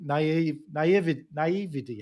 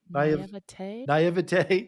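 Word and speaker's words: naïveté: When I look back at things that I've accomplished, I really went in with complete naivety. How do you say that word? Naivete.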